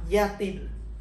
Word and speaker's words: Y a-t-il: Chữ t được đặt chánh giữa nguyên âm a và il để tránh trường hợp hai nguyên âm nằm gần nhau và để dễ phát âm. Chúng ta đọc yatil, có hay không.